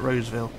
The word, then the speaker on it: Roseville: We've got one more corner to go around and then we'll be at Roseville. That's how you pronounce it.